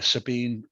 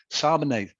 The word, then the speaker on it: Sabine: You've teamed up with the international actress Sabine Rossbach. She reads. How did you pronounce that? Sabine. Sabine. I said Sabine, didn't I? Sabine. That sounds more French.